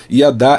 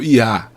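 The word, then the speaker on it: ידה: Yadá é dar graças, Algumas pessoas pronunciam yadá, como eu falei, outras pessoas só pronunciam yá, que significa dar graças a Deus.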